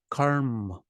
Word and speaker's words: karma: for it karma karma so the first syllable is long because it requires preparation for the two consonants Karma it's just like yoga was yo Yoga Yoga karma is karma karma is karma karma the a stays the short sound but